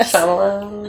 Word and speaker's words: Shyamalan: Shyamalan. I say it, right? That's how I say it. Shyamalan.